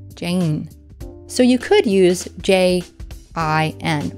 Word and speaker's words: Jane: And when we say the name Jane in English, we tend to pronounce it with this very slight Y sound just before the N, Jane.